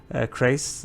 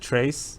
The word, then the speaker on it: Krace: Thank you for the comment that told me how to pronounce Krace. I used to pronounce it Trace, and yeah, so 2 White Lions of Krace.